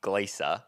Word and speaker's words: Glaser: And there's actually this comedian that's really famous and her name is Nikki. Glacia, but spelled the same.